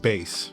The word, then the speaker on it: BAS: That's where like, so like our brand is called Bass, right? And it's like the BAS with the heart. BAS is the word bass, BASE, spelled phonetically.